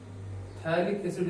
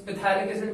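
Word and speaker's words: phthalic acid: थैलिक एसिड इसका common name है। P silent रहता है, कुछ स्टूडेंट्स पैथैलिक एसिड पढ़ते हैं, बट पी एक्चुअली साइलेंट रहता है, तो इसको थैलिक एसिड बोलते हैं।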